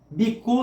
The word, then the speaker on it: bhikkhu: Bhikkhu se escreve assim em português: B-H-I-K-K-H-U. Bhikkhu em Pali, literalmente no original, significa mendicante, ou seja, mendigo.